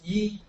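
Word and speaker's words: 一: One is yi, like yi.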